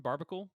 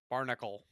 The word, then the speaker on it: Barbacle: Actually, let's talk about Barbacle. I think is how you say the evolved form. Barbacle. Barnacle. No, Barbacle. There's an No, I extra just B like in there.